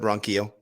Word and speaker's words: Ronquillo: I heard you say Quillo. I thought. No, I said Ronquillo.